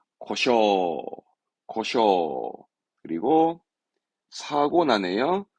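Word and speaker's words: 故障: 발음은 고쇼, 고쇼.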